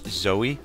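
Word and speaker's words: Zeo: that is Brooke verse Zoey or zero Z EO I always pronounce his name a little awkward cuz you want to say zero but there's no Aro at the end but um anyways uh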